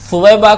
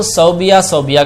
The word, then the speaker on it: ثویبہ: جیسے کہ ایک مشہور نام ہے ثویبہ. ثویبہ کو صوبیہ کہا جاتا ہے، حالانکہ وہ صوبیہ نہیں ہے، ثویبہ ہے.